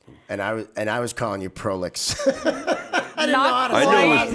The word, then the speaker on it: Proulx: Yes, I can spell it because it's not easy to, if I pronounce it, it's not the same because it's French. And I was calling you Proulx. I knew it was Proulx because Olivia.